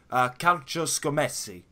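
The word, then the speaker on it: Calcioscommesse: Correct me if my Italian pronunciation is slightly off here, but is it Calcio Scommessi? Is that perfect?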